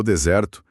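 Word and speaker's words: dessert: Em desert, o deserto, a força tá na primeira sílaba. Em desert, a sobremesa, o stress vai lá pra última.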